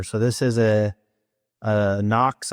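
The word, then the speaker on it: NOK: So, this is a uh Knox, I believe they that's how it's pronounced, but N O K, and then the part number is AC 2016F.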